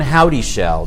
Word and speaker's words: Howdyshell: We met because of John Howdyshell.